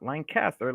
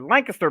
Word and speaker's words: Lancaster: Saturday, April 29th at the Brightside Opportunity Center in Lancaster, not Lancaster, Lancaster, Pennsylvania. Yeah, one Uh, syllable.